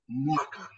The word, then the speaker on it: mwaka: the beginning of word, we pronounce it as one, mwa, mwa. So we don't put, now we don't pronounce the letter M alone. We combine it with that letter W. So they are always pronounced as one word.